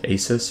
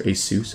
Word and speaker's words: ASUS: talking about formal 14 I don't know you pronounce it ASIS or a soos I say soos asus zenfone 3 zoom